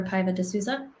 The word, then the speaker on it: Paiva de Souza: i'm introducing you correctly is your name uh pronounced club or piva de souza yes great i just wanted to make sure